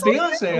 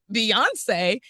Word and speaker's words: Bionce: Beyoncé." And I went on to explain that it's spelled differently, but pronounced the same.